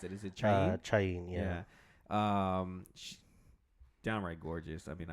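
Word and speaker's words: Chaín: How do you pronounce it? Is it Chain? Chain, yeah.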